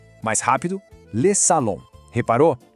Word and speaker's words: salon: A gente diz assim, le salon. Mais rápido, le salon. Reparou? Aquele mesmo som nasal de maison apareceu de novo aqui em salon.